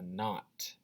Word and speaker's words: knot: ck makes the sound this is a not not um not sounds like it starts with an n but there's a silent k in front of the n in that word and that's really hard to know um just by sounding it out so i'm telling you so the word not